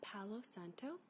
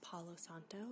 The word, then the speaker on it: Palo Santo: This is a Palo Santo, or Palo Santo. It's pronounced different ways depending on where you're from.